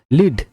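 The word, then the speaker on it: lead: করা যাক প্রথমে এক লিড লিড এখানে সাইলেন্ট লেটার হচ্ছে এ লিড মানে নেতৃত্ব ব্রেথ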